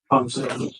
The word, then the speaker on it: Fon: And Officer Pon, is that how you pronounce his name? Pony. Fon.